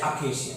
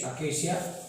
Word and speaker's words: acacia: अकेशिया, इसको बोलते हैं अकेशिया, इसको सी का प्रोनाउंसिएशन है, ठीक है, अकेशिया।